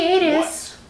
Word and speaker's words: Gatiss: And It's that pronounced is, Gaddis.